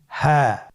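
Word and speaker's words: ح: হ্যাঁ। হ্যাঁ হা হরফটি উচ্চারণ ক্ষেত্রে অবশ্যই বারিক হবে এবং 1 আলিফ টেনে পড়তে হবে।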